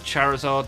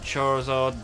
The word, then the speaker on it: Charizard: Yes, I pronounce it Charizard, not Charizard.